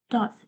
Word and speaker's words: Dott: So basically, my character, his name is Dot. I know, pretty unoriginal, right? But it's spelled D-D. Yeah, D-O-T-T. Dot Wolf.